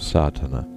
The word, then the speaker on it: Sadhana: about the pronouncing of sadhana the accent falls decisively on the first a which has the broad sound of the letter contents one the relation